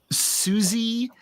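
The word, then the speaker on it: Siouxsie: underground uh band called Suzy and the Banshees. And it's spelled Suzy like the Sue Indians.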